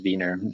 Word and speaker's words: Wiener: how he pronounced it i always pronounced it as v ner nothing that's closer to the german pronunciation but uh yeah i